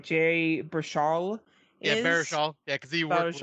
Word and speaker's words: Baruchel: Jay Baruchel yeah, is Baruchel.